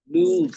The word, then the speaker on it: lose: Lose, the pronunciation is lose. Often we confuse the word LOSE with LOSS.